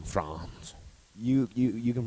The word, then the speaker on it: Frantz: do you prefer I pronounce it like the country France only because I want